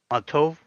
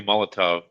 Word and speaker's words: Molotov: Autoto. Yeah, that's a tricky one if you say that wrong. Yeah. Oh, well, it's supposed to be Molotov.